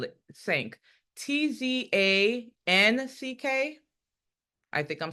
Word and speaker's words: Tzanck: sure, what you're going to do is a Sank smear. It's Tzan. How do we spell it? Sank.